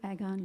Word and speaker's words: Agon: - Agon, yep.